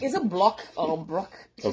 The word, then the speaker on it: Brock: I was like, is it Block or Brock? You mean you couldn't even pronounce it?